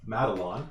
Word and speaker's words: Madelon: Madelon is spelled Maid Lawn.